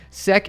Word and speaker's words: SEK: Sec is the pronunciation, but I don't mind.